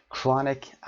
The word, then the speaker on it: chronic: chronic adjective هست، تلفظش رو هم دقت داشته باشید. chronic.